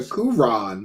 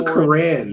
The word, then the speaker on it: Quran: to learn about the kuron and they correspond yeah it's called the Quran David Willcox say it right it's disrespectful to say it wrong every time dark BL he says kuron so I wore a